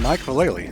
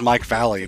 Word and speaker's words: Vallely: this one I'm picking Mike Vallely because he has a funny last name I used to say his name is Mike Valley because I was missing the second l or I guess the